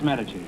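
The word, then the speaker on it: Medici: meach cheese me e d i c i pronounce metes well that means the big question next week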